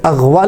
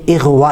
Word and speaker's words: اغوا: اغوا کر لیا۔ یہ اغوا لفظ نہیں ہے، یہ اغوا لفظ ہے، اس پہ بھی غور کیجئے۔ اور اسی طرح کسی